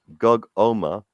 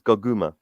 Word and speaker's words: Goguma: Lads, it's not Gogoma. It's Goguma. Yeah, that's right. It is Goguma. Yeah, Goguma. Yeah. So the pronunciation of Goguma's name is Goguma, not Gogoma.